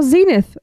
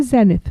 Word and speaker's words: Zenith: We also have Bar Zenith, or Zenith, as I've heard our American brethren I've heard call it it. pronounced Zenith. We say Zenith here.